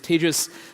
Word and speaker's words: Tejas: Okay, so with that little bit of an introduction, my name is Tejas. That's pronounced like contagious.